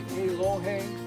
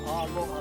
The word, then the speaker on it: aloha: So, when I said aloha, I didn't say alohhe or aloha, right? I said aloha. You hear the short sound like languages.